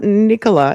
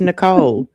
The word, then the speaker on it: Nicole: Well, my name is not Nicola. It's Nicole.